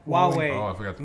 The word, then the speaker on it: Huawei: Yahweh? Yeah, how do you say that company? Huawei. Huawei.